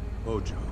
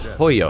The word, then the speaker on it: Hojo: head of biochemical research Hojo hoyo his correct name pronunciation is hoyo transfer of power to